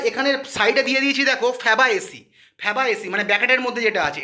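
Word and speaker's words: Fabaceae: তাহলে যদি পরীক্ষায় তোমরা পড়ে গেছো যে দাদা প্রশ্নটা দিয়েছিল মিমোসইডি, ওখানে অপশানে গিয়ে আর মিমোসইডি পাচ্ছ না, ফ্যাবাসেসি পেয়েছো, ঠিক আছে, ফ্যাবাএসি পেয়েছো, সরি ভুল বললাম প্রোনাউন্সিয়েশনটা।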